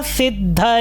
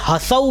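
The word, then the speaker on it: ह्सौ: होगा हसऊ ठीक है क्योंकि ह पूरा नहीं है इसलिए हसऊ भी आपको नहीं पढ़ना है। सौ तो सौ इस तरह से आपका उच्चारण आएगा।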